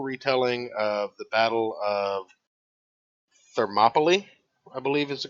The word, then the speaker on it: Thermopylae: It is a fictional retelling of the Battle of Thermopylae, I believe is the correct way to say it. Yeah, that's the correct pronunciation.